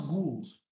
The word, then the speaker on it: ghouls: It's pronounced ghouls.